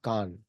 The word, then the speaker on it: Khan: Actually, pronunciation in Mongolian language is Khan.